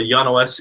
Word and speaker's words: Jan: hi my name is Yan not Jan I'm sorry sorry my